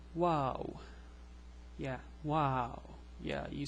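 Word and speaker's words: واو: It's pronounced like W in English. Woo. Oops, that's too much. So it's like the W in English. So the letter WaaW.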